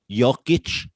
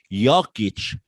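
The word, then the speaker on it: Jokić: nickname the joker you think it comes from jokic no yokitch pronounced like you're american why joker pronounced jay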